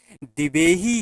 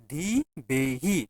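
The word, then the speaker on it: Dhivehi: भारत के किस पड़ोसी देश की आधिकारिक भाषा दिवेही है दिवेही ध्यान रखिएगा स्पेलिंग बोलते हैं डी एच आई बीई एच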